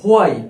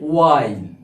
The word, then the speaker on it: while: এছাড়া ওয়াই, এটা হো আইল, এটা উচ্চারণ হোয়াইল, আমরা অনেকেই করি, কিন্তু এর প্রকৃত উচ্চারণ হবে ওয়াইল।